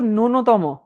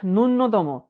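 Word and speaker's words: ন্যূনতম: নূনতম শক্তি না দিলে এটার উচ্চারণ কিন্তু নূনতম নট নূন্যতম। অনেক গাধার দল এটাকে বলে নূন্যতম। এটা নূন্যতম না। এটা হচ্ছে নূনতম।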